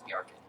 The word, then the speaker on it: Bjarken: Yeah, the J's are never pronounced as J's. Yeah, they're They're Ys. Ys, Bjarken.